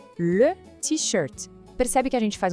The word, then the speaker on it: t-shirt: Porque vem do inglês, só que a pronúncia é toda francesa. Não é para falar t-shirt, não. O jeito certo é le t-shirt.